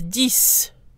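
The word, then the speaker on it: dix: says on its own the X is silent when followed by a consonant and the excess pronounced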